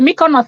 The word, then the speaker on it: Mykonos: she living I beg how is this one pronounced she said my corner this is the Mykonos where you see the